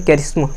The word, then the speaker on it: charisma: अपना अगला वर्ड है कैरिस्मा। कैरिस्मा, अपना अगला वर्ड क्या है? कैरिस्मा। कैरिस्मा की स्पेलिंग है CHARISMA।